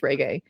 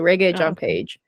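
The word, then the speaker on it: Régé-Jean Page: from fourth wi or ree Jean paage I I think I'm mispronouncing sorry everyone I think I said re before I think it's regay so ree John Paige um who' be the best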